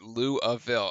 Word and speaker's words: Louisville: up his first Louisville oh natives pronounce it Louisville okay I got it